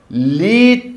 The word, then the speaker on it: lead: LEAD लीड भी होता है और LEAD लेड भी होता है और लेड की एक स्पेलिंग LED भी होती है ना झमेला.